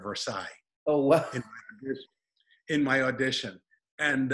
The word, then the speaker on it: Versailles: do something so i purposely uh mispronounced versailles i said for sales instead of versailles oh in my audition